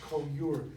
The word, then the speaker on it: coeur: And you know, the word courage comes from a French word that I think is pronounced coeur, C-O-E-U-R.